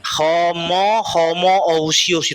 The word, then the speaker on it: Homoousios: Homoousios itu bacanya itu.